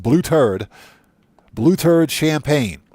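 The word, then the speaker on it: Blêuter'd: you heard that correctly it's pronounced blue turd blue turd champagne it's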